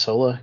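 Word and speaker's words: Soara: indeed and can you believe her name is pronounced Sola cuz sure not spelled that way is it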